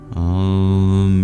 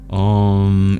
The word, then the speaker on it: Om: The whole universe arises from the Ah, is sustained by the Oh, and is dissolved by the Om.